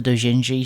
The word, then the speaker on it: doujinshi: I scanned the doujinshi section with my eyes. How do you say that word? Let's have a listen. Let's listen to the man. Or woman. Doujin. Man. Doujin. Doujinshi.